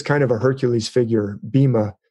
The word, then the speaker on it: Bhima: Bhim is kind of a Hercules figure, Bhima. It's spelled Bhima, B-H-I-M-A.